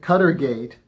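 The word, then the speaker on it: Qatargate: in Israel now the story cutter gate uh which they ironically say rhymes with Watergate includes confirmation that Netanyahu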